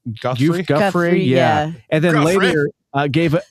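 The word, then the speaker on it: Giuffre: Guffrey.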